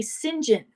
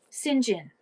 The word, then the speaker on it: St. John: John, they say they don't they say singen. Singen is how it's pronounced.